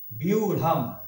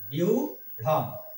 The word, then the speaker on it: ব্যূঢ়াম: তাহলে হচ্ছে জফলা সমান ইয়, তাহলে বয় রস্যিকার, বয় রস্যি রস্যু, বিউঢ়াম, বিউঢ়াম, এই অনেশ্বরে সহজ, বিউঢ়াম উচ্চারণ এটা হবে।